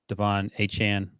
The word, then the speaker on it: Achane: Sorry, that's how he was pronounced. Yep. Achane.